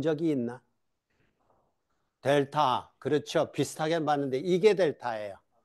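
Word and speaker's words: del: 이건 델이라고 읽어요. 이거는 이거는 델타고 델타의 대문자입니다. 조문자는 이렇게 쓰는게 델타예요. 이게 델타. 이게 그리스 문자인데 요것이 의미하는 바는 거꾸로 써서 거꾸로 써서 델이라고 해요.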